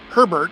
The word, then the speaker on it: Herbert: Right, number 8, Justin Herbert.